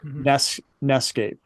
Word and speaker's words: NEScape: Nescape. NEScape. It's NES. NES. Whichever way you want to pronounce it.